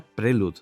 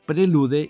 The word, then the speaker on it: Prelude: Por cierto, antes de que me lo digáis, sí, se pronunciaría prelud, pero en España lo llamábamos prelude y lo seguiremos llamando prelude, igual que llamamos wifi a las redes inalámbricas y no wifi.